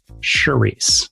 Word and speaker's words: Sharisse: Yeah, it's like Therese, but with the sh. Sharisse.